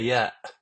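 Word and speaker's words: ي: Last but not least, the Ya, Ya, Ya, which is equivalent to the letter Y in English, such as when you pronounce it in the word yes or you.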